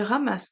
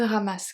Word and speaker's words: ramasse: Il ramasse quelques coquillages et cherche des crabes. Il ramasse quelques coquillages et cherche des crabes. Il ramasse. Ramasse. The final E is silent.